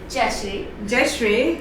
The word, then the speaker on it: Jaishrre: Jaishrre.